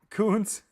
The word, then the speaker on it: Kuntz: Kuntz. Oh no. I've been saying cunts the whole time.